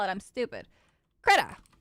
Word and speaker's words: Krita: Krita. It's just Krita. It's not, yeah. It's just Krita. I don't know why I want to add the extra things. Krita Linux. Let's take a look. Operating systems. Krita's free and open source.